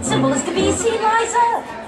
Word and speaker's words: Liza: But when you're a Liza, you always have to say, it's Liza with a Z, not Lisa with an S, but Lisa with an S goes smug.